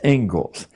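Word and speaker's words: Inglis: and education is named as it is the Engles lecture looks like English but it's pronounced Engles and I would like to read you the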